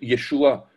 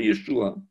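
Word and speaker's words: ישוע: Alors, en sachant que les points et les petits traits représentent pour la plupart des voyelles, lisons de droite à gauche yé.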